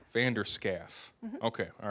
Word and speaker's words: Vander Schaaf: Vander Schaaf. Vander Schaaf. Mm-hmm. Okay, all right. So just kind of how it looks.